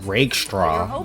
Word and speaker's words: Rakestraw: They don't have to be amazing earlier on because of the cushion it's that pronounced Rakestraw, but by the end of the season, some combination fucking saying of it weird.